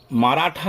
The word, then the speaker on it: মরাঠা: এই যে যেখানে ভুল করে, অর্থাৎ পঞ্জাব ও সিন্ধু হবে, এটা পাঞ্জাব বলে, পাঞ্জাব ও সিন্ধু, গুজরাট, মরাঠা, মারাঠা নয় মরাঠা, দ্রাবিড়, উৎকল, এখানে ছাত্রছাত্রীরা উচ্ছল বলে ফেলে, উৎকল, বঙ্গ, এখানে ছাত্রছাত্রীরা ভুল করে ভঙ্গ।